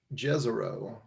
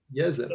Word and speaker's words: Jezero: from this it's that it's not pronounced jezero it's yes it so now you know